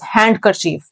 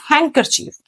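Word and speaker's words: handkerchief: है हैंड नहीं पेंगे we will not pronounce it एज हैंड कर चीफ दैट वुड बी रंग the actual word is हैंड करर चफ next one is sandwich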